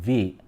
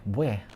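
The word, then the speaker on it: 뷔: Yep, it's read as Bue or simply in English tone V. But in Korean, they're like Bue, Bue, Bue.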